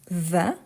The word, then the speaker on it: vas: tu vas tu vas n'oubliez pas que le S pour la plupart de verbes c'est ta Mar c'est la marque de tu donc ok on ne les prononce pas mais il faut l'écrire quand même donc je vais tu